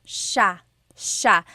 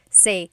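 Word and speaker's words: siya: It's sha sha. The s i y combination makes the sha sound in tagalog. Some regions say sa but in the luzon central luzon area in the tagalog region it's sha sha.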